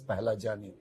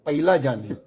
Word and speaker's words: Pahlajani: But somehow the people who hear my surname, they either misspell or mispronounce. I'll give you some example. Somebody call me Pahlajani. Simple. Very simple. I could tolerate that. Somebody used to call me Pailajani. Somebody call me Paglajani.